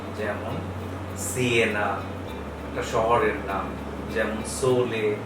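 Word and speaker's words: Siena: যদি এস ভাওয়েলের আগে বসে, মানে এ ই আই ও ইউ এর আগে যদি বসে, তাহলে ইতালিয়ান এস এর উচ্চারণটা হচ্ছে স। যেমন সিয়েনা, একটা শহরের নাম, যেমন সোলে এর অর্থ হচ্ছে সূর্য।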